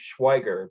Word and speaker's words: Schweiger: actually based off my last name which is pronounced schweiger but most people look and see four consonants